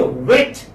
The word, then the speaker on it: wet: my students here but when you say vet you say vet with spread lips when you talk about the doctor of animals you are you are saying it with a spread lips but but when you say wet then i mean the w when when the word begins with w you round your lips and we let any